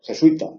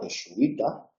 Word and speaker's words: jesuita: general y por eso jesuita que puede pronunciarse jesuita o jesuita no lleva acento porque